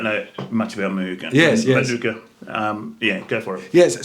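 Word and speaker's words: mānuka: Yes, Manuka, or the correct pronunciation in Maro is Manaka, is the correct word.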